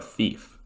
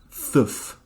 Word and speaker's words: THF: But no matter who the thief is, they're still primarily here to represent THF, or tetrahydrofluoric acid. Pronounced thief, not thuf, obviously.